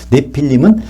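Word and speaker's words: נפילים: 합니다 임자가 붙으면요 그러니까 계속 네피림이란 단어는 원래는 발음이 내 필름이에요 내 필름은 하나님의 계획 가운데서 떨어져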